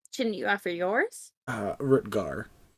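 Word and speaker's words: Rutgar: you offer yours uh rutger kind of like how it's spelled there except it disappeared are you two g-a-r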